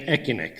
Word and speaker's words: ECINEQ: if you can notice this name is is pronounced wrongly it should be you know e but asck sounded very much economic cynic so the issue was how are we going to to pronounce that and then we decided that we should pronounce c as a k so that it became echin so I'm very happy